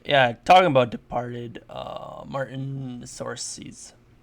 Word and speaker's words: Scorsese: Talking about Departed, Martin Scorsese, Scorsese. I Scorsese.